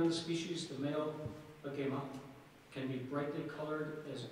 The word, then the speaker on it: agama: Agama. Are there any alternate pronunciations? Excuse me. Yes. The word, the first pronunciation, I'm sorry, is agama. The alternate pronunciation is agama.